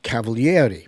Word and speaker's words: Cavaliere: He pronounced it on TV Cavaliere because in Italian you pronounce all the vowels.